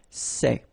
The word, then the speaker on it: ces: the plural you've got only one form okay and it's say okay remember open Say Say Say Okay one